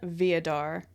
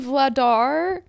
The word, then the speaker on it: Vladar: to say this okay I said Dan vodar why because it sounds like Darth Vader which is so cool for a goalie it's Dan vladar vdar yeah well when